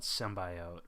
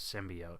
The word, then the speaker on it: symbiote: I hadn't heard a single person on Earth call it symbiote. I've lived my whole life thinking it was symbiote. But Caleb says that it's pronounced both ways. I've heard it both ways.